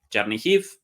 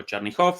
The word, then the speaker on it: Chernihiv: vez más, el nombre, Chernihiv o Chernihov, según la pronunciación en ruso o en ucraniano.